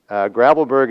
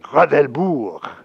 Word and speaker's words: Gravelbourg: Gravelbourg is actually not the way you should pronounce it. You should pronounce it Gravelbourg, okay? Comme les Français. But the English people say Gravelbourg, okay?